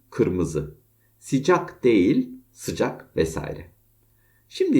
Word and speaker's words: kırmızı: Kirmizi değil kırmızı, sıcak değil sıcak vesaire.